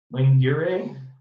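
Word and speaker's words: Laguerre: so armed associated are they are the Associated Lane gearing that's how you say it polynomials stricted based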